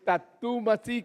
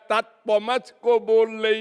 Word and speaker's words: tat tvam asi: Then it struck my mind that she is pronouncing ‘tat tvam asi’ as tatu-masi.